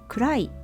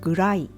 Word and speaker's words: くらい: You can finish the line here, but this line ends with くらいだ Kurai means degree or extent. Some people pronounce gurai instead of kurai.